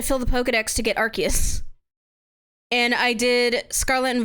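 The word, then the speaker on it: Arceus: The only Pokédexes I filled out were Arus's. Archus. I It's Archus, but the anime pronounces it Arus, which is stupid cuz that is British for ass.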